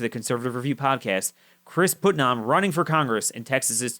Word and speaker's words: Putnam: Small correction, it's Putnam. Putnam.